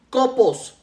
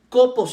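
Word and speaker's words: κόπος: 1ª tesalonicenses 1 viene del griego copos con cap copos y con acento en la primera y que a su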